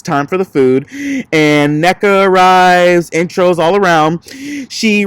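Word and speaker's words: Nneka: It's the double N is pronounced ne. So it's NECA.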